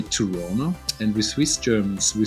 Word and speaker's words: Toronto: toronto yeah you say toronto and with swiss germans we say toronto toronto i pronounce the t toronto they don't say that over there though yeah tirana yo i'm